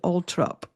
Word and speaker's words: Althorp: Now, there's a thing with the United Kingdom where, like, Althorpe, spelled Althorpe, is actually Altrop.